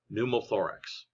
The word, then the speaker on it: pneumothorax: the chest cavity is called pneumothorax on the p is silent pneumothorax you can also get